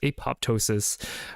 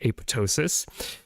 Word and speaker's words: apoptosis: it keeps neurons alive apoptosis uh sorry I should pronounce it correctly apotosis apotosis in neurons can alert